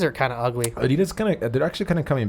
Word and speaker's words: Adidas: It's actually pronounced Adidas. I found that out and I was like, that's stupid. It's Adidas.